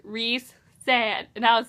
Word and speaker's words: Rhysand: I thought it was Rysand, but then I heard someone say Rhysand, like Reese's, Rhysand, and I was like, who are you talking about?